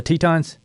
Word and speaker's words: Tetons: Am I saying that right? The Tetons? Yep, you're saying it right.